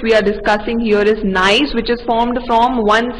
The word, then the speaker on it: gneiss: Yes, gneiss, right? It is pronounced as gneiss.